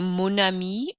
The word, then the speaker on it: mon ami: So mon ami, my friend, notice we pronounce the N sound more in mon to bring those sounds together. Mon ami, ton école, son histoire.